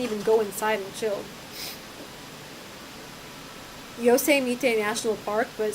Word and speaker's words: Yosemite: It is Yosemite? The T is silent? No, it's Yosemite.